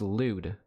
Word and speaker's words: lewd: lewd Behavior it's not lud it's not lud it's pronounced lewd some of the word